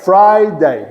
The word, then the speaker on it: Friday: Friday. 2 sílabas.